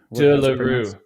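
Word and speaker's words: de Le Rue: De la Rue.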